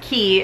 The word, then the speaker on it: Quay: that brand from Australia called key it's spelled qu a y and they're from the